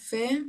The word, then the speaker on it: fait: এটা past participle form হচ্ছে ফে, এফ এ আই টি, হ্যাঁ, উচ্চারণ হবে ফে। তাহলে যে ফে, কি হবে? যে ফে। J'ai fait.